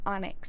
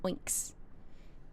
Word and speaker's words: onyx: It's not Onyx. It's Oinks. I've only ever heard it pronounced oinks. Why is everyone saying it's onyx all of a sudden? I I've my whole life growing up, I've only ever heard heard oinks.